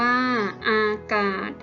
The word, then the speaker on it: อากาศ: ค่ะ อ่ะ ออก อากาศ อ่าน ว่า อากาศ สอ สา ลา สะ กด นะ คะ อ่าน ออก เสียง เหมือน เด็ก สะ กด ค่ะ ประกาศ อ่าน